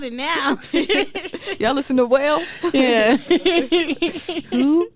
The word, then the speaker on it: Wale: Y'all listen to Whale?